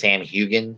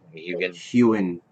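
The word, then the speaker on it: Heughan: The only one on this list that I think I could possibly see is that the Sam Hugan. Is that how you say his name? Hewen, as I was Ewan.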